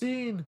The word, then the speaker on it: zine: So that was another zine. Pronounced zine. But my brain keeps going Zine like Vine.